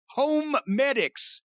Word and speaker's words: HoMedics: and by the way that's home medics even though it's spelled h-o-m-e-d-i-c-s when i first heard